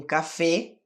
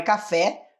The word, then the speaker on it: café: ganas de tomar um café veja bem a pronúncia não é café café Esse sou mais fechado ou você pode usar